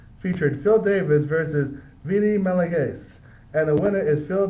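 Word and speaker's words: Magalhães: Sorry, that's how you say it. Magalhaes.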